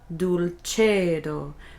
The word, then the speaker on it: dulcedo: Vita dulcedo. Notice the C is che, because the C is followed by an E. If it's followed by an E or an I, the C is ch. Vita dulcedo.